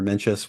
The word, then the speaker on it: Mencius: who may not know, there are multiple ways of pronouncing Mengzi, sort of referring to the philosopher Mengzi or Mencius. One of them is to refer to him as Mencius.